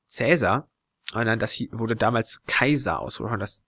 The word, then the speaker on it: Caesar: Jahre der Konsens gewesen dass im Lateinischen das ae als ausgesprochen wird und derchein hat man gesagt so der heißt Caesar das stimmt aber nicht der hieß damals schon Kaiser und da also der